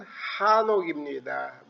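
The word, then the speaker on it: חֲנוֹךְ: 아담 셋 에노스 게난 마랄렐 야렛 에녹의 원래 발음은 한옥입니다.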